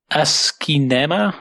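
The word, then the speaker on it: asciinema: I pronounce it correctly it's Asma it's basically aski Cinema combined into one word and it's a um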